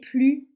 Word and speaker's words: plus: dernière phrase elle est plus intelligente que lui alors ici en fait ce n'est pas qu'on ne prononce pas on ne prononce pas le ce mais on va prononcer le son Z Z elle est plus